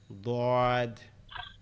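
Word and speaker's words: ض: এর পরেরটা হচ্ছে জিহ্বার গোড়া থেকে, জিহ্বার গোড়া থেকে অর্থাৎ এই জিহ্বার গোড়ার ডান দিক থেকে, এই জায়গার থেকে উচ্চারণ হবে কি দদ, দদ, দদ।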